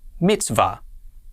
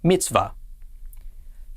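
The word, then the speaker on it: מִצְוָה: be pronounced va and the hay on the end is silent so our first syllable would be mits and the second syllable altogether this is pronounced mitzvah mitzvah mitzvah means commandment here is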